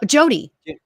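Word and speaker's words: Jodeanne: me with pronouncing this is it jode Ann lamb I think so uh Jody okay j-o-d-e-a-n-n-e okay okay yes Jody Jody lamb Joe Dan uh lamb thank you it might just be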